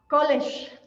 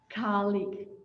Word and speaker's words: colleague: next word in mexico our students tend to pronounce like college right okay check the pronunciation colleague colleague yes very good the next